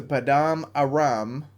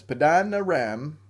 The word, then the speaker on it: Paddan Aram: Go at once to Paddan Aram. That's not how you say it, but that's how you should because it rhymes. Paddan Aram.